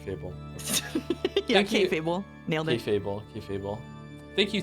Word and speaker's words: kayfabe: The fabe part is pronounced like fail, but with a B instead of an I. Fable? Alright, Fable. Okay. Yeah, Thank you. K-Fable.